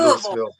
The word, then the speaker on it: Louisville: I call it Louisville. I pronounce my S's.